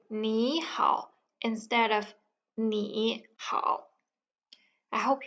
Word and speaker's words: 你好: 你 when pronounced individually is in the turning tone, which is 你. However, when it's in the word 你好, 你 becomes 你. It becomes a rising tone.